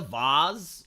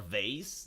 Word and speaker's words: vase: They throw the vase or vase, depending where your pronunciation, where you are, your pronunciation may be different.